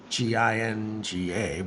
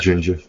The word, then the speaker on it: Jinja: I don't know how people pronounce Ginga, but Jinja files. I think it's just Jinja. Yeah, and then over time, the Cronk ecosystem will be.